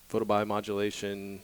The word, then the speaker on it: photobiomodulation: then the broader term has got referred to photobiomodulation or PBM even for short can you say